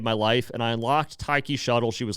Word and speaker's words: Taiki Shuttle: Next, Taki Shuttle. I know it's probably pronounced Taiki Shuttle, whatever.